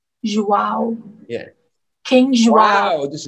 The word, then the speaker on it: João: Yeah, it's pronounced, in Spanish you pronounce it J as G, but in Portugal as J. So João. João.